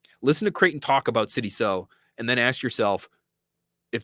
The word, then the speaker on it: Sidy Sow: It's Sidy Sow, like you're sewing a shirt. All right, Sidy Sow, we've got that figured up.